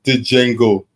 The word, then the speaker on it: Django: You know he do not pronounce the D. The D is silent.